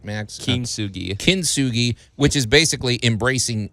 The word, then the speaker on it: kintsugi: Did I pronounce it right, Max? Kintsugi.